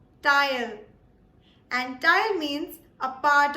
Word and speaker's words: Teil: The next word is pronounced as tile. Tile.